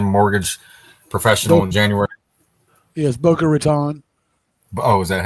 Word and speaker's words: Boca Raton: Boca Raten, Florida, told Canadian mortgage professional in January. Yes. Boca Raton.